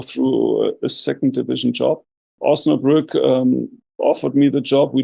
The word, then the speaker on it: Osnabrück: Is it Osnabrück? Is that how you pronounce it? Osnabrück, yes.